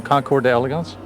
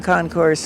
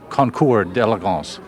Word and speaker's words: Concours d'Elegance: I want to stop you when I noticed that you pronounced it concourse, but it's French, isn't it? And we make that mistake as Americans. Is it a mistake to call it concourse, or should it be Concours d'Elegance?